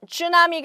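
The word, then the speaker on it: tsunami: 안에서 살펴 보실 내용은 슈 나 미 가 되겠습니다 우리 한국말로 그냥 쓰나미 라고 발음을 하지 아주 큰 이런 해외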